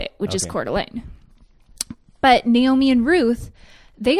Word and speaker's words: Coeur d'Alene: The way she described it was how I just said it, which is Coeur d'Alene.